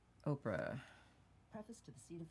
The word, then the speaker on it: Oprah: Oprah. Could you spell that, please, he said. I did, O-P-R-A, and the H is silent, I explained.